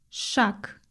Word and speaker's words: шаг: At the end of this word, the voiced g is pronounced as a voiceless. Shak shak.